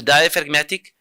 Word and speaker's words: diaphragmatic: So diaphragmatic. Research it. You search so many things on YouTube. Search diaphragmatic breathing. There's a silent G in diaphragmatic.